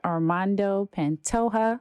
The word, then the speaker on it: Armando Pantoja: I am here with Armando Pantoja. Did I say that right? Yeah, you said it right.